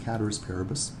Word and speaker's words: ceteris paribus: It looks like it's ceteris paribus, but it's actually pronounced cateris paribus.